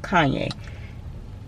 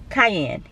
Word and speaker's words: cayenne: juice lemon and ground kanye i say kanye how do you say it cayenne cayenne pepper anyway so yeah this